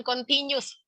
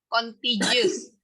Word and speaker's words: contiguous: Continuous conditioning ini belajar itu adalah suatu proses perubahan yang terjadi karena adanya syarat-syarat condition yang kemudian sebentar, dibacanya bukan continuous, contagious. Contagious ya, Bu? Contagious.